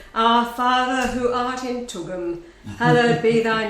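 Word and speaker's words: Tugun: We live in Tugum, which rhymes with Blugum, which is BLGM if you try to say it.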